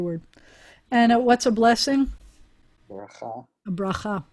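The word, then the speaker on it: בְּרָכָה: bet and the resh, bracha. You could even say bracha. Accents on the last syllable.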